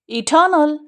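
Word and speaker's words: eternal: इटर्नल, इटर्नल, इटर्नल, इटर्नल, ठीक है, spread करेंगे, इस पे स्ट्रेस है, एल साउंड जल्दी से पढ़ देंगे, यहाँ पे सब मिल गाएंगे।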